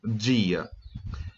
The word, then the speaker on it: dia: ela vou dizer como dia E observa em que a pronúncia é dia mesmo tá pessoal não pode ser guia energia é dia como se fosse a nossa pronúncia da palavra dia e me significa nos